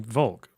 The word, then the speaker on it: Volk: And in one country, it was Volk is pronounced like folk.